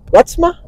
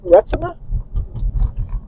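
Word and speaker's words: Reitsma: But it was Lori and Ralph Retsma, R-E-I-T-S-M-A, Retsma.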